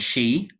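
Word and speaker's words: sídhe: Ireland in our mythology called she as in banshee for example which is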